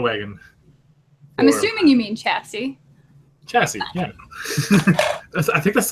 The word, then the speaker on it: chassis: got assemble that but I got the the Chasey which is important chassis chasis how do you pronounce that I don't know but anyways it's gonna be a sweet orc looted battle wagon I'm assuming you mean chassis chassis yeah I think that's what I said